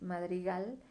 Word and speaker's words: madrigal: son las sílabas átonas no como Madrigal esas dos son suaves Madrigal si tú lo pronuncias del gal tiene mayor fuerza como que se cuelga y más un poquito más la voz no bien aquí pues